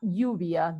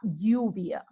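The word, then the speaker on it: lluvia: this is female la uvia double l is not pronounced as an l but as a different word la uvia and rain is yo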